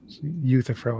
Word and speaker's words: Euthyphro: Euthyphro is how you pronounce that.